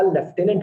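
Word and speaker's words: lieutenant: आपको कहोगे सर यहाँ लेफ्टिनेंट लिखा है, हाँ बच्चों लिखा लेफ्टिनेंट है मगर प्रोनाउंसिएशन इसका लेफ्टिनेंट होता है।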